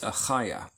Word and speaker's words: Achaiah: It spells it with the CH. It's not a ch, it's Achaiah.